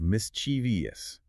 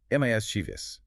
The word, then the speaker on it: mischievous: This is one of the most common misprononunciation errors in modern English. The crucial mistake is the addition of an extra phantom syllable. Turning it into the incorrect mischievous. It is strictly a three-cllable word with the stress firmly on the first syllable. Mchus, you must train yourself to drop the I sound between the V and the O.